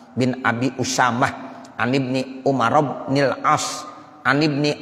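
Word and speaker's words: عمر: aja Bapak ya Ibu kalau Umar tulisannya Ain Meme amarok kalau Amr Ain Meme roam Abah Wow jadi WOW nya ada tuh habis rok kalau ada habis roknya Wow bacanya Amr kalau enggak ada Wow Bacanya apa Umar jadi bedanya begitu anaknya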